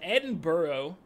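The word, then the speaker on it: Edinburgh: fully aware now that this is Edinboro because obviously B eurgh stands for borough same with rocks borough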